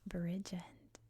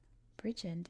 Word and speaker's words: Bridgend: I've heard it with the D dropped at the end.